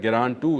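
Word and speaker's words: Герань-2: ग्रान टू इसका सही pronunciation है।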